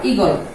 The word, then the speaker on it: ইগল: আবার এখানে দেওয়া আছে দেখো দীর্ঘ ই যদিও দীর্ঘ, কিন্তু এখানে এর উচ্চারণ হবে খাটো। কিরকম হবে? খাটো হবে, অর্থাৎ এটার উচ্চারণ হবে খাটো, ইগল।